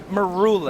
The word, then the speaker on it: Maroulis: Maroulis. Maroulis, it's Greek. Because I rule in the middle of it.